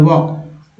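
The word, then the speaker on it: walk: एल को का बोलते हैं, तो एल साइलेंट हो जाता है, वॉक।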